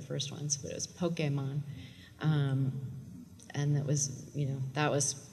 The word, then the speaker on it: Pokémon: told how to pronounce Pokemon there for the first five episodes or so we said Pokemon and then we got a missive that it had to be Pokemon and so we had to